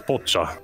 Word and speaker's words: Pochita: Well, you said Pachita, and then it's pronounced just Pocha sometimes. It depends on the language. We're Japanese, so it's Pocha. Pochita is more like a Spanish way, you know? Change. It's more of a Brazilian way.